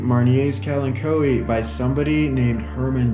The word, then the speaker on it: Marnier: r is a consonant so i say marnier as in grand marnier i mean we could